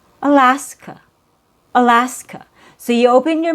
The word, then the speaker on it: Alaska: So, we have Alaska. Alaska. Same idea. We have three syllables. There are three A's in the spelling. The middle A has a real vowel sound.